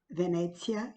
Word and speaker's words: Venezia: Venezia, que é como se fala em italiano, e aqui nesta caneca linda retrata alguns pontos turísticos de Veneza.